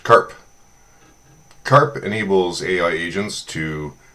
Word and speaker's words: CARP: I'd like to introduce my crustation agent rendevous protocol abbreviated as CP and pronounced Karp.